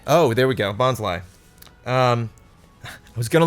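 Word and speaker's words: Bonsly: little little plant type I'm guessing bons bons so it rhymes with Bonsai oh there we go bons Li um I was goingon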